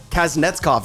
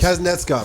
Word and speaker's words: Kasnetzkov: Kasnetzkov, super close. Kasnetzkov. I just learned how to say it myself.